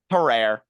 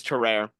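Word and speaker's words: Tarrare: listening to it it's the evening for us terrer his name is spelled t a r r a r e sometimes that last e is chopped off his name is terrer are you sure you're pronouncing that right I'm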